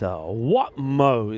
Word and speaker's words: Watmo: It's Watmo is the way the name is pronounced.